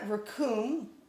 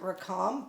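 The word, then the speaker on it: רַחוּם: And in here he pronounces it rakum. I have a friend named Mercy. We actually have always pronounced it rakam, but I'll just go with his just in case.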